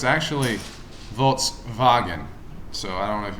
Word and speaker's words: Volkswagen: supposed to be pronounced volkswagen um because the w in german makes the v sound so it's actually volts wagon so i don't know